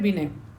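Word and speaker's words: Binet: अब क्या है कि एल्फ्रेड बिने, इसमें जो टी होता है साइलेंट होता है, एल्फ्रेड बिनेकर ने क्या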